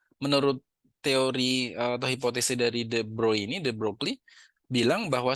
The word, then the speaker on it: de Broglie: Nah, sekarang melalui teorinya the broy atau saya bacanya the broccoli ya biar gampang. Tapi B sebenarnya bacanya the broy.